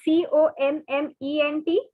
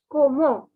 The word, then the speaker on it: comment: carefully komo saba now see this word c-o-m-m-e-n-t you had already seen in the previous slides yeah it was similarly how are you is okay i'll repeat again it is not comment it is komo komo the next two words